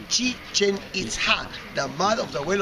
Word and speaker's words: Chichen Itza: That it was, try with me this word, Chichen Itza. Chichen Itza. This is the correct pronunciation.